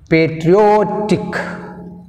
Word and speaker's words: patriotic: Patriotic, patriotic, O tick, tick one, O two. That's why we'll take O, second syllable from the end.